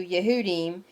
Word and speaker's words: Yehudim: The time will come when anyone who kills you, Yehudim, and I'm pronouncing Jews correctly with a Y in this video, will think he is serving Elohim.